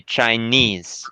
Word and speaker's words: Chinese: yeah Chinese the this the second syllable is pronounced more strongly yes so you say Chinese Chinese but further country we say China China yeah China but